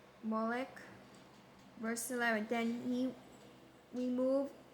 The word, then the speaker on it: Molech: the fire uh fire to How to pronounce Molech? Molech?